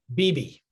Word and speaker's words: Bebe: What is the correct pronunciation? Bebe. Bebe. Cuban for baby.